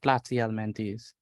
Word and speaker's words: Platyhelminthes: Platyhelminthes. That is the pronunciation of this word, platyhelminthes.